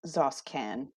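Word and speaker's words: X'oskan: pronounce the X. It's part of his character. Tabasco. Zoskan.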